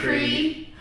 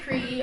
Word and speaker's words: Qri: My name is Cree. Hey Chizzy, I'll let you go. Let me go. My name is Cree. It's spelled QRI.